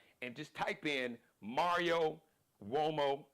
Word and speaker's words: Uomo: He's on Instagram, and just type in Mario Uomo. Uomo is an Italian name, so Mario like umbrella, O like Oprah, M like Mary, O like Oprah. Mario Uomo, Uomo.